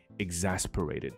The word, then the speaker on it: exasperate: After an hour of this, the exasperated doctor asked the lawyer.